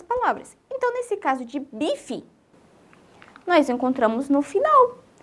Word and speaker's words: bife: Mas, por ele estar no final da palavra, ele fica com o som de I. Então, fiquem bastante ligados nisso aí. A gente... escreve bife e fala bife.